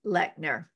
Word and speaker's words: Lechner: and my guest today is no exception lechner and did I pronounce that right oh yay uh actually